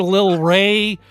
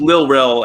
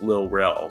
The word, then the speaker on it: Lil Rel: Like, so I hear Lil Ray or Lil Ray, it's like, oh no, it's spelled like this. I triple checked. Well, it's anyway, supposed to be. Continue. Sorry, it's Lil Rel, as in short for Little Daryl.